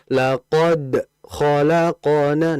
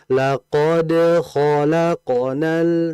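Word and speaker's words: لقد خلقنا: Namun seringkiali saya mendengar bacanya seperti ini. Ada beberapa yang mereka membacanya laqad khalaqona. Nah, itu kayak berhenti itu putus suaranya. Laqod khalaqo. Harusnya dilunakkan, diringankan. Laqad khalaqonal. Nah, jangan putus.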